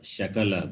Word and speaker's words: shakala: Like for example, sakala or shakala, both are different. Sa and sha.